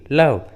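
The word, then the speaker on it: love: जैसे hope, give, लव, gave, देखिए सभी इंग्लिश वर्ड्स में ई एकदम लास्ट में है, इसलिए ई साइलेंट है, ई का उच्चारण नहीं किया गया है।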